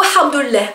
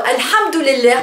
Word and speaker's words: hamdoulilah: Donc, en fait, c'est un mot assez drôle parce que on le prononce avec une lettre, avec un son qui n'est pas, qui n'existe pas en français, donc le ha, hein, ha, ça vient de la gorge, et ça fait quand